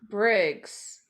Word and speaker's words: Myers-Briggs: great so annabelle myers bridge chest first that's did i say it right so myers-briggs briggs i know you keep saying bridge and i'm like wait